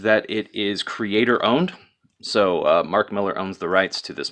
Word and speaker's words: Mark Millar: be right so Mark Miller I almost said Mark Millar damn it Zack and so his name is pronounced Mark Miller and and even the artists incredible for this